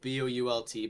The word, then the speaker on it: Bolt: So it's Bolt, Boult, but pronounce it like a like lightning bolt.